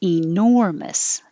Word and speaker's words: enormous: now 9 the e is not stressed so you could say it with the e enormous but most likely it will change to uh with the e enormous the important part is the stressed syllable nor because that's what you're really stretching enormous enormous 10 is the same